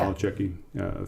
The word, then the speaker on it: Nolichucky: I went up to the Nolichucky River. Is that how you say it? Yeah. Nolichucky, from Tennessee down into North Carolina.